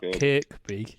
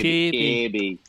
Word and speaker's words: Kirkby: not Kirkby. It's Kirby. Say it right. Kirby.